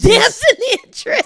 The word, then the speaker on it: Damson Idris: It's Damson Idris.